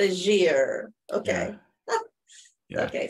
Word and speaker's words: Legere: How do you pronounce yours? Legere. Oh, excuse me, it's French sounding. Kind of mispronounced. Yeah. Legere.